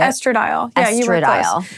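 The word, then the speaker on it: estradiol: And then once I was starting to wean, I got more serious using the estrodial. Is that how you say it? Estradile.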